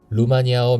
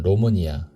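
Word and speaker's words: România: 루마니아 명칭은 로니아 대한민국에서는 루마니아라고 표기하지만 실제 발음은 로니아에 가깝다.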